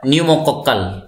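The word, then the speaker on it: Pneumococcal: तो पी लगाया तो भाई पी यहाँ पे साइलेंट है, ठीक है, साइलेंट है, छुपा रहता है।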